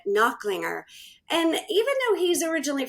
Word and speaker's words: Nachlinger: His name is Nachlinger. I said it wrong, but Nachlinger.